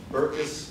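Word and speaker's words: Berkes: knowledge I would argue that the way that burkus you pronounce it Burks or burkus bur Burks yeah Burks and Folia have dealt with anthropological knowledge has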